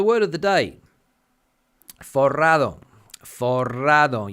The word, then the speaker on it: forrado: Forrado. You have to get the old R, the two R's working if you want to pronounce this word correctly, meaning that you are loaded with cash.